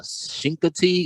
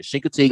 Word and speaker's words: Chincoteague: catter and we did some trapping in uh shinka tea i want to make sure i say it right shin contigue virginia chincoteague island virginia so he's another tnr advocate another